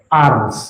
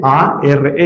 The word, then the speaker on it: Ars: confió, que se llamaba Ars. Se escribe a R S. ¿Cómo se llama el pueblo? Y por eso le decían, ¿cómo le decían? cura de ar, el cura de ar lequuré dicen los franceses, nuestro cura eso significa el que cuida.